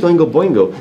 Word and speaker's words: Oingo Boingo: You got the second one right, just chop the B off on the front, you're good. Chop the what off? On the first one. So it's spelled just like the other one, but without a B.